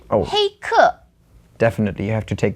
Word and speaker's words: 黑客: Next one I'm going to give you is 黑客. Can you guess what that is from the phonetic translation? Phonetically, it sounds a lot like hacker. It is hacker. 黑客, and 黑 is black.